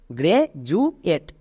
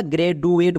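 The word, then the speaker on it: graduate: প্যাটেন এর জন্য উচ্চারণ হয় এট তাহলে একসঙ্গে উচ্চারণ করো গ্রে জু এট একে আমরা গ্রে ডু এট বলবো না তাহলে খুবই সিম্পল নিয়ম ডি এর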